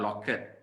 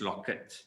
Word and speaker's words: locket: Can you hear the t sound when I pronounce the words? It's not jacket, it's jacket. It's not locket, it's locket.